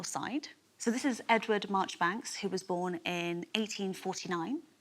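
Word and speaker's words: Marjoribanks: to do with a lord Margie Banks or is it March Banks I think it's March Banks classic British pronunciation so what do you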